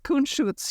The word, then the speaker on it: Kunstschutz: Is that how am I pronouncing that right? Kunstschutz? Yes, Kunstschutz, yeah.